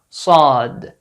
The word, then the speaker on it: ص: Like the saw sound in these English words. Sorry, salt, solid, sight. Not the sa sound in these English words. Sad, saj, sand.